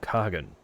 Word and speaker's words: Khagan: It's pronounced Han, actually. They don't say the Khag. The Khag is not pronounced the Han. I'm so sorry for anyone I've offended. Mom got a game, thank you for the shout out. Glory to the Han is how it's pronounced.